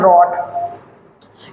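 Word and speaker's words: wrote: practice करते हैं right इसका सेकंड फॉर्म होता है रट इसमें डब्लू साइलेंट है धन ध्यान रखना है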